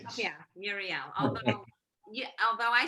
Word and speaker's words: Muriel: This is easier to pronounce. Yeah, Muriel. Although I say Muriel and you say it Muriel.